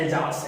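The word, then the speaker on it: Alsace: यानी कि मैं एल्जास तो पक्का आपको याद करवा कर रहूंगा कि इसकी प्रोनाउंसिएशन एल्सिस नहीं है, एल्जास है।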